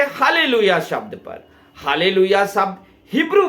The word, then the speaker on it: Hallelujah: आप अगर इसका इंग्लिश वर्जन देखोगे तो एच A double L ई यू जे एच होता है। यानी कि य का उच्चारण हब्रू में ज से लिया जाता है। इसलिए हालेलुया शब्द हब्रू बाइबल से में मिलता है आपको।